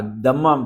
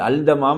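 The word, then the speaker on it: التمام: ஏயும் எல்லையும் போட்டுடுறாங்க விளங்குச்சா இப்ப தமாம் என்று வரும்போது ஏ எல் போடல அதமாம் தான் அது அல் தமாம் அல்ல ஆனா இப்ப இங்கிலீஷ்ல எழுதும்போது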